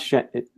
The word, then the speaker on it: Shenzhen: How do you pronounce Shenzhen?